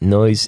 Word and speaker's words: Neüz: It's pronounced Neüz Pollution, but okay. Yeah, it's the umlauts that. Okay, my Stussy, bad. Noise, yeah.